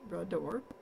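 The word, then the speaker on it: Bras d'Or: how to pronounce it that's how you pronounce it broad door and it means a leg of gold so but deck is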